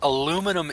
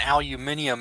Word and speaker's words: aluminum: So actually, aluminum is the proper original name for it, and aluminium is the new name.